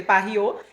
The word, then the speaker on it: PaRio: Rio, eh, que, né, se escreve pario, mas aqui a gente lê pariô. Então, ficou muito legal até pra pronúncia, porque lembra o Rio de Janeiro, justo.